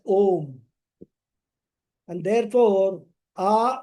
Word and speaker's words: Om: The combination of A and U is pronounced as Om.